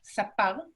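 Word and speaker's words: סַפָּר: La tercera se pronuncia sapal, que significa peluquero.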